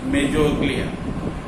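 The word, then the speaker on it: mesoglea: M-E-S-O-G-L-E-A, mesoglia. Okay? From outer to inner, you find orderly. First one, your ectoderm. Then you find mesoglia, and inwardly you find endoderm.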